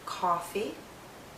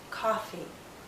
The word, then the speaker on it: coffee: people drink all coffee some people drink coffee coffee coffee coffee if you hear ah coffee the lips are more rounded and the tongue is pushed backward more if you hear a coffee the lips are more relaxed and the tongue may be more forward coffee coffee listen as